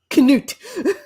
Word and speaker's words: Cnut: It's spelled Cnut, and then his last name is Sigurdsson. So I am going to interpret that as being pronounced as Knut.